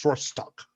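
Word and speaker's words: Srrors'tok: I can't say it right. Spell it. SRRORS''TOK. It's Srostock.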